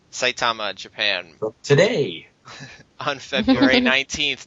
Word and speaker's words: Saitama: you say the name of that city eric saitama saitama japan today on february 19th 2012.